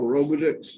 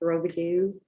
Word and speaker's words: Robidoux: Robotics. Is that how you say your last name? It's pronounced Robidoux. Robidoux. Yes, sir. Like in New Orleans. I'm from French. Massachusetts originally, but yeah. French, Robidoux.